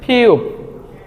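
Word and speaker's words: 피읖: যেই বর্ণটি দেখতে পাচ্ছি এই বর্ণটিকে কোরিয়ানরা বলে ফিউব ফিউ ফিউ এটার মূল উচ্চারণ ফ তারপর আমরা যেই বর্ণটি দেখতে পাচ্ছি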